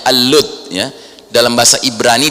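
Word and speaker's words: اللد: Kalau dalam bahasa Arab dibacanya Al-Lud, ya.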